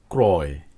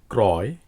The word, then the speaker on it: ক্রয়: অযুক্ত র ফলার পরে অন্তস্থ অ থাকলে সে অ এর উচ্চারণ প্রায়শ ওকারের মত না হয়ে অই থাকে যেমন ক্রয় ত্রয় শ্রয় সূত্রানুযায়ী এগুলো